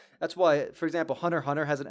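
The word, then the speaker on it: Hunter × Hunter: an X in it the Japanese don't pronounce the X it's just there as a visual thing that's why for example hunter hunter has an X in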